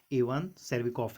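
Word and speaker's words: Cherviakov: मेरे हिसाब से ये इवान सेर्विकॉफ है। ठीक है, यहाँ पर टी साइलेंट रहता है ना।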